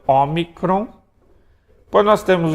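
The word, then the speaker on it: όμικρον: pronunciar o também a briga que alguns vão pronunciar o tá Mas é o ómicron depois nós temos o pi tá tá o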